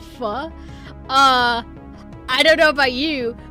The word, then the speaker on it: pho: Actually, it's pronounced pho.